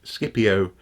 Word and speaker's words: Scipio: Cicero kicker wrote and Skippy Oh Skippy Oh and this funny though actually that we don't say Skippy Oh Scipio so there are little legitimate